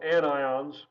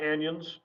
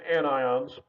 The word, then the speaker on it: anions: negative ions which are called anions again not anyons it's anions and so these are things